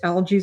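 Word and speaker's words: Algiz: This is called algies in Nordic, pronounced algies.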